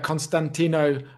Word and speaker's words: Costantino: Welcome to Costantino Rosselli. Do I have that pronunciation correct, Costantino? Yeah, that's correct.